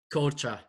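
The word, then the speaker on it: Korçë: So you were born in Korce, is that right? Am I pronouncing that right? Korce, yeah.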